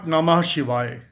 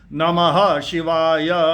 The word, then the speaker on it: नमः शिवाय: डू it just mentally it इट कैन नॉट बी नमः शिवाय नमः शिवाय इट हैस टू बी नमः शिवाय नमः शिवाय नमः शिवाय now this is the pronunciation S पर एस पर द शुक्ल यजुर्वेदा माध्यंदिनी शाखा दिस शुक्ल